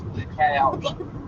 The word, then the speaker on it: DeKalb: Okay, so that's one of the ones where the L is silent.